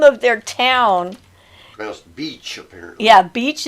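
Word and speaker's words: Bitche: of their town yeah beach is how it's pronounced and facebook algorithm got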